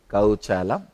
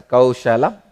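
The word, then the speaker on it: कौशलम्: I am not going to pronounce this as a kaushalam. I will call it as kauchalam only. Let it become my own accent.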